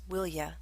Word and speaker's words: will you: you with a request it's often pronounced as willya example quit that tapping